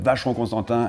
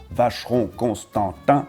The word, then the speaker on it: Vacheron Constantin: Okay, now the big one with Vacheron Constantin, and same thing, Constantin, Vacheron Constantin, and yes, there was a Mr.